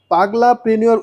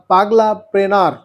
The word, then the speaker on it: পাগলা প্রেনার: এটাকে এটাকে ইভেন আমি ব্রিটিশদের মত পাগলা প্রেনিয়র উচ্চারণ বলবো না। বাংলা স্টাইলে বলব পাগলা প্রেনার।